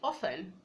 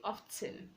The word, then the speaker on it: often: You can say often, you can also say often. So that's an exception.